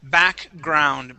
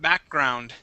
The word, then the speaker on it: background: Let's practice the word background. Background. Background. Okay, with a K sound instead of background, it is back.